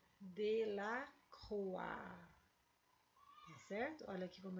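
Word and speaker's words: Delacroix: do século 19 e ele se pronuncia de la rua certo olha aqui como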